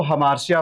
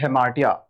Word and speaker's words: hamartia: वैसे कई बार लोग इसको हमार्शिया पढ़ते हैं, हेमार्शिया पढ़ते हैं, बट इसका एक्चुअल जो प्रोनाउंसिएशन है वो है हेमार्टिया। क्या है? हेमार्टिया। इसको शिया नहीं टिया बोलते हैं, हेमार्टिया।